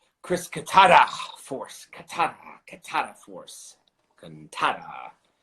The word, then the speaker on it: Cantada: CANTADA. I'd always say it like CANTADA, but it's right.